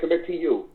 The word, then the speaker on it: Kemitu: It's pronounced Kemitu.